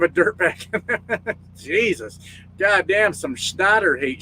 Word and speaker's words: Schneider: Goddamn, some Schneider hate. Schneider. You got to say it right. Schneider. You got to do it the right way.